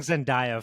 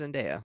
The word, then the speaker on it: Zendaya: to be pronounced Odysseus, and we've just been pronouncing it wrong our whole lives. Well, Only I've been 80% though. saying Zendaya for a long time. It's until Zendaya.